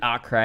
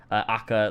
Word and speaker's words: Acre: So yeah, it is Acre, it is Ach, it is Aka, like, you know, it is Acre. It's all of those names. It's all of them because different cultures and different people pronounce them differently.